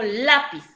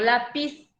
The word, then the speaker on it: lápiz: ahí tenemos tres ejemplos lápiz yo digo lápiz no digo lápiz entonces se carga la voz en la penúltima sílaba y la palabra lápiz